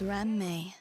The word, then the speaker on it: Ramme: My name is Ramme. When saying my name, please don't run the syllables together.